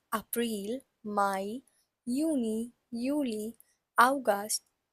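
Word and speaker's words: Juni: the spelling is j u n i and it is it again J again has a y sound in it so it's pronounced as uni then we have July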